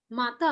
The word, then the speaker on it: matin: Mata, sir.